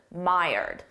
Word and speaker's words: mired: number five mired mired look at the spelling now listen to my pronunciation my my myed myed that's the pronunciation we use this when